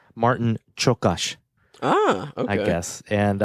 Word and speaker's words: Martin Csokas: Now her husband, Luis, was played by, now I learned how to pronounce this one today. I always said Martin Csokas, but it's Martin Csokas.